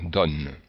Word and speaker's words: donne: Alors, en principe, le O est ouvert lorsque, dans la même syllabe, il y a une consonne prononcée. Ici, on prononce le N, donc le O est ouvert, donne.